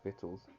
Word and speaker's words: victuals: behold all right which means look victuals our vittles pronounce vittles all right which is you know